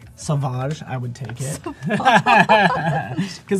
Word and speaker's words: Sauvage: your blood smell like Sauvage, I would take it. Because that's what I put on this morning, Sauvage. Sauvage. It's called, no, it's not Savage, it's Sauvage.